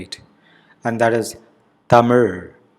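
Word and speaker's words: தமிழ்: Tamil. The letter Ra is unique to the language and it is very different from the Z sound of English. Tamilians are impressed when a non-native speaker pronounces it right.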